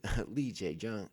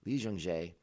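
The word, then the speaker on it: Lee Jung-jae: Our primary cast for this week's episode is Amanda Stenberg, J, Lee J. Jung. I always say his name backwards. Lee Jung Jae, Charlie Barnett, Daphne Keene, Manny Jacinto.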